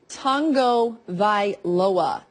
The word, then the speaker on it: Tagovailoa: Yeah, it is Tagovailoa.